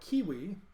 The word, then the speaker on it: civitas: curving uh shape so you have to think of it as a hard C and instead of a v it's a u and so the first c i v actually was pronounced more like kiwi which is why I